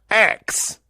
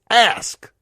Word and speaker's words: ask: The word is not ax, it's ask. It's not AXC. It's not a body spray. It's not a outdoor tool to chop wood, to murder people. It is spelled ASK. It is not AXE.